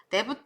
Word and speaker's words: debt: 그래서 빚이라는 표현으로 여러분들이 빌려온 돈 debt 이렇게 표현합니다. debt 이렇게 발음하지 마세요. B가 소리가 안 나요. debt 이렇게 기억하시면 되겠어요. 다시 정리하면 자, pay up.